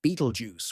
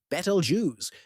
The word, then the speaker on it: Betelgeuse: Betalju pronounced either Beetlejuice or Betalju depending on whom you ask is a red super giant.